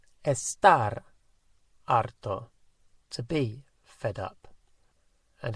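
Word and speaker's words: harto: then we say estar arto to be fed up and if it's referring to feminine estar arta so a girl would say estoy arta i'm fed up and arto is spelt h a how would you say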